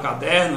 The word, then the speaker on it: caderno: Observe a palavra caderno. Quando eu separo o caderno, veja, caderno. Quem foi que eu pude prolongar? Der. A sílaba tônica é o der.